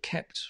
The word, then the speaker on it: kept: difficult for me right it kept kept but not not capped but kept right great dr yogis